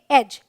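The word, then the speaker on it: edge: है dark dress drink rule number two कहता है अगर डी के बाद जी आए तो डी साइलेंट होता है ऑलराइट तो आप ज्यादातर देखेंगे ये डीज ई ऐसे साथ में होता है यहां पर डी साइलेंट है इसे पढ़ेंगे बैज इसे पढ़ेंगे एज ऐसे बहुत सारे वर्ड्स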